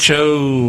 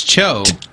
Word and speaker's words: TCHO: TCHO whatever. Oh, the Tcho. Yeah, Tcho. It's Cho. Yeah, It's Cho. Cho.